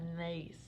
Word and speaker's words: gneiss: This one has a weird spelling. You pronounce that gneiss, okay?